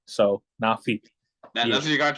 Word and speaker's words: Naafie: I'm here with, you pronounce your name Naafie, right? Yup, so it's Naafie. So it's nah like hell nah, and then fee like paying a fee. So Naafie.